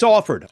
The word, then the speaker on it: Alford: It's Alford.